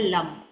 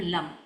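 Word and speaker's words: लं: अगर हमें इसको बैलेंस करना है लम एल ए एम लम। लम हम उच्चारण करते हैं और लम में हम मां को ज्यादा खींचते हैं क्योंकि यहां हमें गूंज क्रिएट करनी है।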